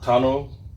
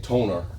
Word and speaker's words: tonneau: i can't pronounce and i was told this is tono tunnel cover i was saying toner but tonneau cover all right i already